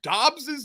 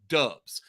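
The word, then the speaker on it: Doubs: i can confirm that dobbs's name is pronounced dobbs not dubs apparently romeo did not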